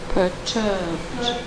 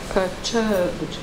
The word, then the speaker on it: perturbed: By posture, now all three as if perturbed. Perturbed. The E is silent. We have to say it as if there's no E between the B and the D.